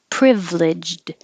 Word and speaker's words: privileged: names anton anthony anthony privileged you don't really hear the d at the end privileged you kind of hold it in the d position but if there was a word after it that began with a vowel like privileged upbringing then the d would connect and you can hear it privileged upbringing and you